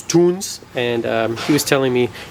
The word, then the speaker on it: Tunze: So I had the pleasure of meeting Felix, which is the grandson of the founder of Tunze. Sorry, I said it wrong. It's Tunze.